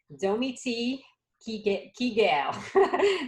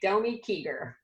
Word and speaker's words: Domi Kiger: both doing and leading, Domi Kiger. That's how you say it in French. She just coached me through, but in America we say Domi Kiger.